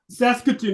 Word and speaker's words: Saskatoon: Saskatoon, that's how you pronounce it.